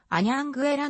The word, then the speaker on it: Anhanguera: はアンヤングまいらポルトガル語ではあヤングエラのように発音されると名付けられ地名